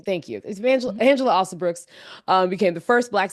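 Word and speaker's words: Alsobrooks: got black lady Senators Angela Angela I I butchered last name thank youel Angela osel Brooks um became the first black senator in Maryland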